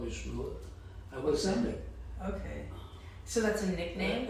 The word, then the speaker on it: Samek: my name was Samek. Samek? Samek. Could you spell that?